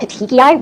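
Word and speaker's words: petechiae: And another thing that you can see with compression is what are called pitiki which is spelled p e t e c h i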